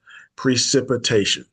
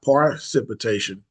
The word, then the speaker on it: precipitation: The sip part where sip is actually spelled with an S, but still it pronounced sip.